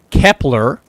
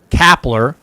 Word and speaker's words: Kepler: the Phillies made Max Kepler don't call me kapler because he's going to be getting a lot of uh Gabe kapler mispronunciations I already see that down